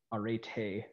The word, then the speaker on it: arete: ethical theories so remember uh eritre or Arete if you want the Greek pronunciation right that's the word